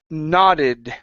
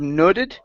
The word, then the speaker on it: nodded: dog okay very nice next up is the word nodded right here instead of noted its ah nah nodded nah good not it okay